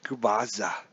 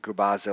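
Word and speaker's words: Gubicza: It's going to be Stoudemire versus Mark Gubazza. I learned how to say his name too. Mark Gubazza.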